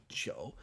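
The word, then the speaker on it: 九: For those of you who don't know Mandarin, like the number 9 sounds very, very, very close to the word for alcohol.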